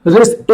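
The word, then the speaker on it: risqué: निकलता है sexy suggestive रिस्क इसको रिस्क मत पढ़िए यहां पर एक वर्ड बीच में लिखा हुआ है रिस्क इसको बोलते है रिस्के रिस्के के क यू ई पे के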